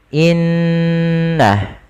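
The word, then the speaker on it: إِنَّ: Cara membacanya yaitu menahan suara gunnahnya dan menahan suara n-nya sepanjang 2 harokat, baru dilepaskan. Seperti apa? Seperti ini. Innah, tidak langsung dilepaskan secara langsung innalladzi, karena dia bacaan gunnah yang harus ditahan.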